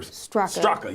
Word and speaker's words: Straka: Yeah, Brandon Straka or Straka, yeah. Straka. Straka, I think is how you say it.